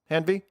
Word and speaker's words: Hanvey: And in the lower right, we have special guest Joseph Hanvey. Did I pronounce that right? Hanvey? Yep, Perfect. that's correct.